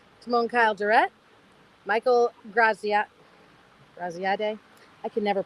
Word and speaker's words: Graziadei: Graziadei. I can never pronounce his last name. Graziano, I think. No. No. It's DEI.